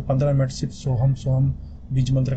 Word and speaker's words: सोहम: याद रखें, सो को जरा देर तक बोला जाता है, फिर हम को जल्दी समाप्त किया जाता है, यानी ऐसे सोहम सोहम सोहम।